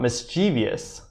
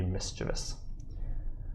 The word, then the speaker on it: mischievous: there's no I before o us it's not mischievous technically it's mischievous mischievous now to be honest